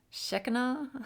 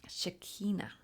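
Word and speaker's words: Shekhinah: I keep wanting to sh say shaka or shaka shaka shaka. Um shakina shakina.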